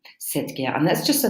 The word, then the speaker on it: cet: it's still masculine singular we use this special form said CET it's kind of like a masculine form of the feminine one said yeah and that's just